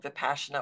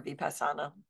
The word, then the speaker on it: Vipassana: 10-day noble silence called Vipassana or Vipassana, depending on who you're talking to, in the pronunciation.